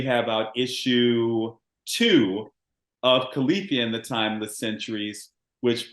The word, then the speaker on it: Califia: the characters nice and I have to correct myself because I've been saying khalifia is K IIA califia in the Timeless centuries